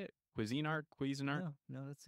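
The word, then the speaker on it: Cuisinart: and then I would talk and then I'm quez andart is that how you say it Cuisine Art quein art no no that's a good one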